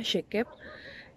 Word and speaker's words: Shekep: Uno de mis apellidos es Shekep, entonces así se pronuncia Shekep.